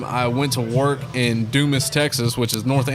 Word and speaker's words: Dumas: Is that how you say that? We always wonder. Dumbass, Texas. Yeah, we were just gonna skip over that. Pronounced Dumas. You remember that commercial? No. That was a commercial back in the day where That's he's funny. Mr. Dumbass. Yeah. No, Dumas, Texas, how they pronounce it.